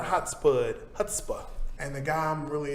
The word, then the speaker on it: chutzpah: chutzpah. Chutzpah. Yes, If you're going to say the Yiddish word, make sure that you say it correctly.